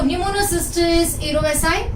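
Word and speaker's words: Pneumocystis jirovecii: So pneumonia can be caused by some fungus like Pneumocystis erovesi. Okay. अभी Pneumocystis erovesi, okay, this is J but pronounced as I. So Pneumocystis erovesi, okay, it is also caused by Pneumocystis carinii.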